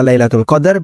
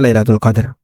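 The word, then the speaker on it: ليلة القدر: Sehingga dua cara baca ini benar. Bisa dibaca Lailatul Qadar, bisa juga dibaca Lailatul Qadar.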